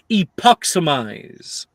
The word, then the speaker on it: Epoximize: The spell is pronounced epoximize. Say it with me.